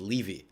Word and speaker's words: Levy: Yeah, and I also had to deal with in English, Levy is a last name. So my name is a last name, and it's pronounced Levy.